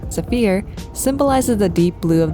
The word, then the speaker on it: Saphir: For the Sapphire Odico, or more accurately, the French pronunciation, Safir symbolizes the deep blue of the ocean and sky and the train's sophisticated design.